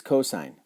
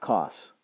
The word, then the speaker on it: cosine: not sin next is cosine we're going to call it cosine not cos we're going to call